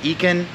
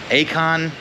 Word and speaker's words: Eikon: It's Eikon, Eikon. Like, I've heard a lot, but it's literally the Greek spelling of Eikon, I-C-O-N.